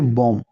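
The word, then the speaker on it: bomb: जैसे आप एग्जांपल के द्वारा समझिए आपके सामने कुछ वर्ड्स है जैसे बम बम में बी साइलेंट रहा है।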